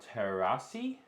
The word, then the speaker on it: terasi: Speaking of capsicum, my leg and arm is burnt because I had to wash blender with sambal terasi.